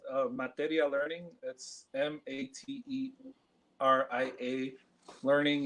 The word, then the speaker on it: Materia: It's Materia. That's like material, but without the L at the end.